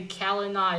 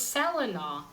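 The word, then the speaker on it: Celanawe: Only a small group knows the Kalina is Black Axe. And also, I found that funny when they returned with him. Someone said, "Oh, so that's how you pronounce his name. I thought it was Selena."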